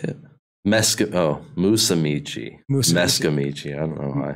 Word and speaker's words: Musumeci: Mikey Meskimisi. What was that? Is that how you say it? Musumeci.